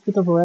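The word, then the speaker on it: Phytophthora: Lead blight হচ্ছে আমাদের কে তৈরি করে, তোমার পিথোফিরা ইনফেস্ট্যান্স। পিথোফিরা পিথো দাঁড়াও, পিথো দাঁড়াও, হ্যাঁ, উচ্চারণটা এইভাবে হবে, পিথোফোরা ইনফেস্ট্যান্স।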